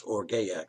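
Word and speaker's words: orge: definition is now for o-r-g-e pronounce or gayak suppose probably as desire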